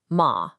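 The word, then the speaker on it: 骂: It starts high and drops fast like you're giving a command. Listen. Ma.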